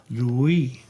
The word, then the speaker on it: Louis: In English, Louis. In French, Louis.